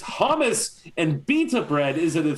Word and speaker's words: hummus: It's hummus and beta bread isn't a thing. It's hummus. So just it's hummus. Hummus. I say hummus. Hummus. Yeah. Hummus. Because HUM is hum. Hummus. You don't say hume. We were huming this song.